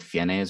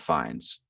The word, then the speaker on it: Fiennes: don't like i think the common mispronunciation is is people say like fiennes or something i'm pretty sure it's ralph finds no it's refined according